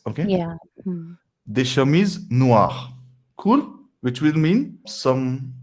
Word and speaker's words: noires: Yeah, we don't pronounce that last S. Okay. Yeah. Hmm. Des chemises noires.